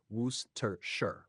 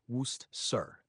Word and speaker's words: Worcestershire: pronunciation of Worcestershire sauce is simpler than it looks. Here's how to say it. Worcestershire, Worcestershire, though common in British English.